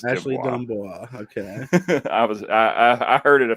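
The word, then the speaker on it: D'Amboise: It's pronounced Dumbois. Yeah, it is. It's Ashley Dumbois.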